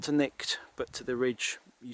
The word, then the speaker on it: Cnicht: That's Cnicht over there. It's spelt C-H-N-I-C-H-T, centre top.